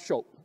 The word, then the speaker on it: scop: And eventually, Cyrus was flipping through this enormous dictionary and came across SCHOP. That's the correct pronunciation of this old English word.